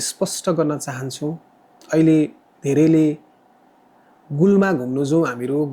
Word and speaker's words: गोलमा: स्पष्ट गर्न चाहन्छु भन्छु गुलमा चाहिँ एउटा विकृति हो। यसको सहि उच्चारण चाहिँ गोलमा हो। जी ओ एल एम ए गोलमा अनि यो शब्दलाई हामी हेर्छौ भने गोलमासँग मिल्ने शब्दहरु थुप्रै छन्।